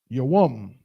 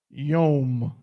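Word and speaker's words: יום: They'll say it can be yom. Yom. Because they're saying that that wa can be a vowel. It can connect other symbols to form a syllable. But that is not true and that is impossible.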